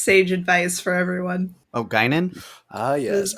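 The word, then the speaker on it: Guinan: You said gyn. There's an N at the end.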